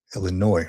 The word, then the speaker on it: Illinois: Sergeant Stacking Illinois has Illinois, right? The S is silent.